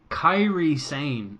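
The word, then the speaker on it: Kairi Sane: then you went with Carrie Carrie saying Carrie same kairi kairi same is how you pronounce her we should say that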